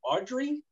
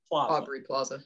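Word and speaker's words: Aubrey: so mark dupless and i always get her name wrong audrey or aubry aubry plaza yeah with a b yes so yeah there's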